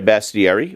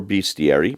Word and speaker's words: bestiary: You get a bestiary or beastiary. It can be pronounced either way or either that contains